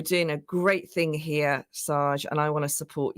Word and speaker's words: Shahj: think it's fine so I pronounce it Sarge so a bit like Sergeant Sarge why not people